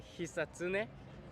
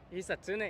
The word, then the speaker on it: Hisatsune: No syllable emphasis, according to my friend who speaks Japanese. Basically say it fast and boring.